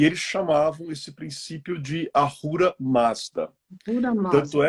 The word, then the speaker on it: Ahura Mazda: Ah, Ahura Mazda.